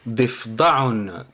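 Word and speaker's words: ضفدع: defdaon signifie grenouille donc pour le prononcer correctement donc on va faire def def donc c'est le dad et le fa donc on va les lier ensemble parce qu'il y a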